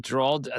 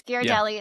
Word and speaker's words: Ghirardelli: I have Dald I think it's Daldi. Is that how you pronounce it?